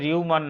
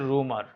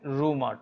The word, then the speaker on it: rumor: এটা রিউমার না, এটা শুদ্ধ উচ্চারণ হচ্ছে রুমার, প্রচলিত ভুল উচ্চারণ হচ্ছে রিউমার, আর শুদ্ধ সঠিক উচ্চারণ হচ্ছে রুমার।